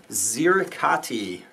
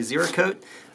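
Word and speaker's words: Ziricote: building will be with Z riccati and I know that I pronounced that wrong and that's actually zero code at some point I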